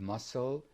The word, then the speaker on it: muscle: am in debt yes pronunciation silent letters we have logically we have climb we have muscle we have wednesday we have make come